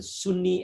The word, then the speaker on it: Sunni: Maybe some of you have heard about the Sunni and the Shiite, right? Sunni, S-U-N-N-I, Sunni, and Shiite, S-H-I-A, different pronunciation, different spellings, but Sunni and the Shiite, they are different, but they are also similar, okay?